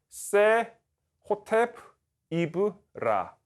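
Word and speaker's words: 세호텝이브라: 아멘에메트 1세의 주기명인데 이 주기명은 그 세호텝 이브라라고 읽습니다. 세호텝 이브라.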